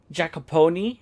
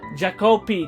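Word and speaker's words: Jaakko: It was Ilmari and Jacoponi. What? I think I pronounced that incorrect, but what were the names, by the way? Jacopi. That's the name, not Jacoponi.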